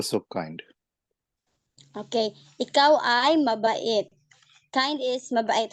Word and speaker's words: mabait: Mabait is kind, right?